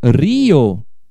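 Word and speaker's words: río: Agora, para ser Rio, para escrever, aí eu tenho que, ó, acentuar o I para dizer, ó, são duas sílabas. É Rio.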